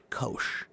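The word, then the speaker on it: Kocs: city K O Cs, which is pronounced Kosh.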